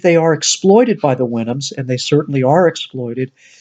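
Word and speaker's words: Houyhnhnms: We have the Winhams, and we think that's how their name is supposed to be pronounced. It kind of imitates the sound of a horse.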